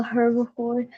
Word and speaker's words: herbivores: They are all herbivores.